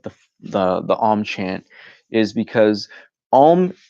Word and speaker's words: Om: Om chant is because Om, yes, it is 3 syllables, but technically it is 4, because the 4th is not seen, it is silence.